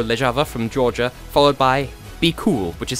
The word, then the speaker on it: BQL: So yes, we had Light It Up by Mariko Lejava from Georgia, followed by Be Cool, which is spelled BQL.